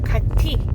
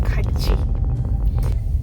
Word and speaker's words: 같이: You don't pronounce it as 같이. This is 같이.